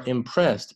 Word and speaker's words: impressed: 我们来看一下这一道题，improvement。大家先把视频暂停一下，给自己大概40秒的时间，把整个文章呢先读一遍。好，我们来看一下文章的第一部分。Analysts，注意这是复数的形式，were impressed as 后面这个 d 呢有点偏这个 t 的发音，impressed by the improvement